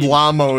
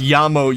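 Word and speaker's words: llamo: myself and they said lamo it's pronounced yamo you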